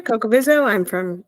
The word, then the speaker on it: Cocovizzo: I'm Cocovizzo. That's Coco Vizzo because Jaws and everything else pronounces it terribly.